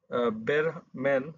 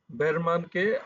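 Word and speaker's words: Behrman: চেষ্টা করো I must call বেরাম্যান sorry ভুল উচ্চারণ করার জন্য দুঃখিত বেরমানকে আমি I must call বেরমান to come up here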